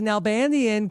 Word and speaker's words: Nalbandian: once the second juror from Survivor 45 Kelly nanian Kelly how are you I'm even better because you pronounced my last name flawlessly Rob flawlessly right